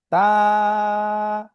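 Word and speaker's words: ت: আবার তা, বেশি টানও হবে না, অল্প টান। তা, তা। যদি উচ্চারণটা দেখি, বাংলায় যে ত আছে, এই যে আমরা বাংলাতে যে ত, সেই ত এর মতো উচ্চারণ তা।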